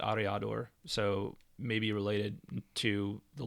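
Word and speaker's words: Aryador: um so it's it's a-r-y-a-d-o-r so i'm i think i'm pronouncing that correctly but ariador so maybe related to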